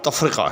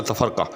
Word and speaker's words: تفرقہ: تینوں اشعار کے اندر جو درست تلفظ ہے وہ تفرقہ ہے، نہ کہ تفرقہ.